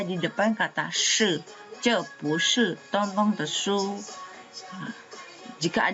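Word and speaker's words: 不是: Nah, ini juga shi nada keempat. Berarti kalau diletakkan di depannya dia akan berubah cara baca menjadi nada kedua. Bu shi. Bu shi.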